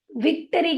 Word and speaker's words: victory: VICTORY, VI का आवाज होगा वी, और CT की आवाज होगी ट, और O होगा ओ, RY होगा री, री। VICTORY को आप कैसे पढ़ेंगे बताइए मुझे। हम पढ़ेंगे उसे विक्टरी के रूप में।